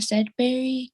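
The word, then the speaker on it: Sedberry: you state your name for the record and spell it please it's said barry k e y a n a s e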